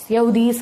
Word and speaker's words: Yaudheyas: Spelling है YAUDHEYAS, यहूदीज कह सकते हो आप इनको।